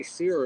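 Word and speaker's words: cere: That eye sear, if you don't know what it means, it's spelled C-E-R-E.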